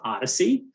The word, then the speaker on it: OHDSI: uh patrick is is a founder of the observational health data science and informatics community this is pronounced odyssey odyssey is an open